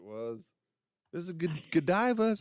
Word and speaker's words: Godiva: This is a good Godiva, is how you say it? Mm-hmm. Gold diva, gold diva. Godiva.